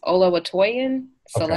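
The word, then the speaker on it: Oluwatoyin Salau: Olatoyin Salau. Yeah. Okay. How you pronounce the name again? So their full name is Olawatoyin Salau.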